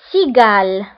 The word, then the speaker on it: cigale: La lettre C, il est كنتبعها voyelle I, فكنقراوها si, si. Exemple, une cigale, une cigale.